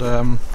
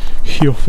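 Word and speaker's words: Heugh: And this lump of awesomeness ahead of us is called Huff. I think that's how you pronounce it. Huff is spelt H-E-U-G-H.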